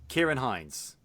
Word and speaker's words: Ciarán Hinds: a Christopher Plummer no it's Oscars face com pronounces the name mance rayder Sharon Hines Hines ciarán hinds that's it thank you it's Kira come on